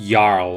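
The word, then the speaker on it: jarl: has sworn to protect pretty sure it's pronounced yarl as well a force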